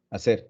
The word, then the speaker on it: hacer: o hacer por ejemplo hacer que es h a la h muda viene del verbo en